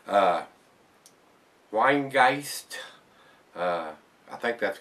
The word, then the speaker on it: Rhinegeist: it uh but uh the uh the r is silent from uh basically what he said the the rain the RH i n is like Wayne and the guys is like German for ghost or something like that so told